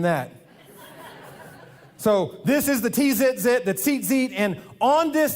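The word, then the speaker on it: ציצית: And then these tassels on the end, these are called, the Hebrew word is tzitzit. Say tzitzit. The way that's spelled, the way we would spell that in our English transliteration would be T-Z-I-T-Z-I-T.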